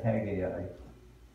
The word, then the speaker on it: Haggai: then there's Zechariah, and then you come to Haggai.